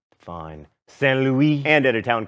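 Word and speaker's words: Saint-Louis: Saint Louis, and at a town called Gorée, both in Senegal.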